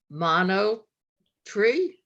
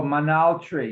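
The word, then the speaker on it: monolatry: worshipping other gods um it sounded like mono tree oh manal tree yeah how do you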